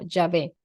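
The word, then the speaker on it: Yahvé: traducciones y los exegetas lo dejaron así como javé a mí me parece que está está muy bien eh pronunciarlo Como yavé y ahora vamos con la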